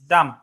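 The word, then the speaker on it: dumb: নিচে লেখেন ডাম উইটনেস ডাম এটার উচ্চারণ হবে ডাম ডি ইউ এমবি ডমট যদি আপনাকে বলে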